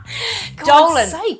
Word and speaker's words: Dolan: Dolan rhymes with Colon.